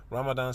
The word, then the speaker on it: Ramadan: southeast you know anyway Ramadan since that is the pronunciation of the word in the Quran Delhi based writer RAR